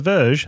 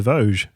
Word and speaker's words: Voge: Not the Verge, the Vogge.